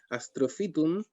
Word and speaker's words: astrophytum: Por decirte astrophytum, no sé, para ponerlo en ejemplo simple, astrophytum, todo el mundo dice fitum, pese a que se escribe PHY. Entonces rápidamente hacen la asimilación de ese PHY por una F, I, latina, fi, ¿no es cierto?